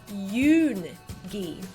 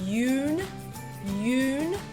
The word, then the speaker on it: Yoongi: of the word yoongi the English pronunciation of his name would probably be Yoon ghee do you notice this swing Yoon you so try to minus That Swing when you're speaking in Korean we want to flatten the sound out and rather than swing it and go Yoon we want to go Yoon Yoon now another example is